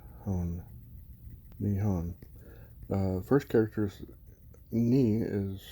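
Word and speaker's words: 日本: But this first character right here, that's pronounced ni, just like your knee, your kneecap. And the second character is pronounced hon, nihon.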